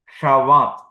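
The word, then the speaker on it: שבת: ഇനിപ്പോ ഷവ എന്നായി ഷവ ഇപ്പോഴ് ഇതിന ഉച്ചാരണം ഷവാത് അതാണ് നമ്മൾ സാബത്ത് എന്ന് ഉച്ചരിക്കുന്നത് സാബത്ത് ഷവാത് ഇനി മറ്റൊന്ന് മെലക്ക് രാജാവ്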